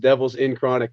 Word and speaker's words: Devilz N Crawnik: at all well yeah my name is pronounced roach spliff and it's pronounced devils in chronic but no together we